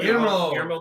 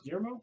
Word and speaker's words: Guillermo: Guillermo del Toro. You can't pronounce Guillermo? No, I can't. Just pretend the L's aren't there.